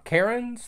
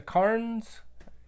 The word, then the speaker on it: Cairns: it and then uh the Karens the Cairns you know depends on what part of the United States you're from and how that gets pronounced the 770s 660s 660